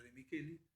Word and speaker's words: De Micheli: El director se llama De Micheli se escribe, con CH, o sea, De Micheli.